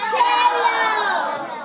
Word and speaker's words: cello: will show you is the lowest instrument, the lowest sounding instrument in our string ensemble, and it rhymes with jello. It's called the cello.